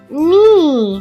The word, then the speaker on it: knee: fee, Tr, E, tree, Ni. Here K is silent. When K is before N, it is silent.